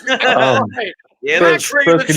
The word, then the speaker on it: McIlroy: Tiger Woods, and Royal McIlroy. Oh my God! Stop saying it wrong. It's McIlroy.